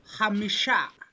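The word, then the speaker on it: חמישה: You have a good natural chet. And again, going back to that idea of Kiswahili stress, that would be the equivalent, I guess, of the KH.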